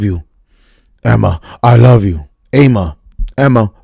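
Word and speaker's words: Aemma: Emma, fuck it. The A is silent. And that's what I'm sticking with.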